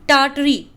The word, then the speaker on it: Tartary: This is Tartary, Tartary, in which the first R is silent, Tar.